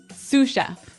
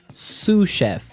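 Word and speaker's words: sous: to our second word suf suf suf suf s o u s so the S is silent because it's like a French word yeah something like that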